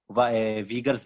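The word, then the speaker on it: Uyghurs: मुस्लिम है, वीगर्स मुस्लिम, इसे कोई यूगर्स मुस्लिम पढ़ते हैं, लेकिन जहां तक जितनी मैंने न्यूज जोन सी हैं इंग्लिश वेबसाइट्स, ये इंग्लिश न्यूज मैंने सुनी है, उसमें वो इनको वीगर्स ही प्रोनाउंस कर रहे होते हैं, वीगर्स।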